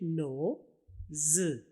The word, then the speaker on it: nose: और दूसरी आवाज S और E की, जो असल में खाली Z की आवाज निकालता है। Z या Z दोनों कह सकते हैं। तो उर्दू में ये है जाल की आवाज। उर्दू में देखिए नो, ज। और इंग्लिश में NO, नो, और Z, ज। नोज।